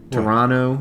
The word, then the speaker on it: Toronto: ever heard of that toronto is how you're supposed to pronounce it pot pontiac ponte pontiac not there's no tea in pontiac and there's no t in toronto evidently well there is